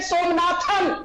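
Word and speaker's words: Somanath: It is not Somnathan. It is Mr. S. Somnath.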